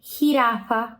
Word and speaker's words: jirafa: e com o j o J sempre sempre tem som de R em espanhol Ok qual é esse som de R é o nosso som de rr como como carro sabe o som de carro esse ro é o som do J do espanhol tá então Ron jirafa ramas Ok e o g